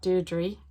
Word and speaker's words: Deirdre: It's Deirdre, not Deirdre. For once I know how to pronounce somebody's name, so I'm showing off. It is Deirdre. I checked her pronouncing her own name online, and she was in Galway so long, she's very used to being called Deirdre, even if it wasn't her name originally.